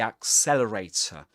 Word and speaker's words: accelerator: Accelerator, the last um sound, the last letter is not pronounced, but in this case is immediately followed by a vowel sound um awah.